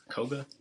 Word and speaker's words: Koga: Koga. Yes. Koga.